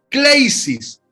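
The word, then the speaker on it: κλῆσις: Y la palabra llamamiento se escribe, son dos palabras, hei, H-E-I, H-E-I, hei, H-E-I, Kleisis, K-L-E-I-S-I-S.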